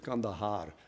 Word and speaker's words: Kandahar: You pronounce it Kandahar.